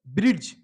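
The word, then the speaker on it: bridge: silent letter का आपको ज्ञान नहीं है तो ब्रिज क्या करेंगे इसको बिना साइलेंट का जो गलत है लेकिन इसको अगर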